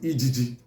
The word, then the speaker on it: ege: Some parts of Igbo call it EGG. EG is spelled as EGE. EGG is spelled as EGEGE.